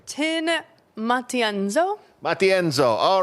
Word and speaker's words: Matienzo: I want to pronounce it correctly. Tin Matienzo.